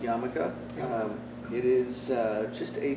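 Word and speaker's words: yarmulke: so this is called uh this is called yamaka um pronounced or spelled yarramoka but pronounced yamaka it is uh just a piece of cloth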